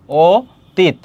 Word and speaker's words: অতীত: এইযে ও হবে। কারণ অ এর পরে যদি কোন কার থাকে ফলা থাকে ওই অ এর উচ্চারণটা ও হয়ে যায়। তাহলে এখানে কি হবে? ও হবে। ও তিত।